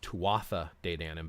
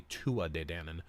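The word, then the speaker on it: Tuatha Dé Danann: Denon now a lot of people think it's pronounced tuatha data in him but it's actually Tua de danan and the Tua de Dannon there's actually and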